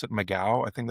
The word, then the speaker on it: McGough: I think her last name is, you pronounce it McGough. I think it's McGough. It's McGough.